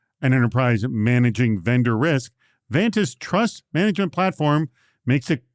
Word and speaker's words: Vanta: That's why Vanta, it rhymes with Santa, it's easy to remember, is here.